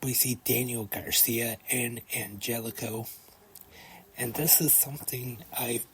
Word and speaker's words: Angelico: they've been calling them Angelico I just thought they were pronouncing it wrong but Tony Shani actually explained on commentary tonight that he actually prefers that it's anelo so I know now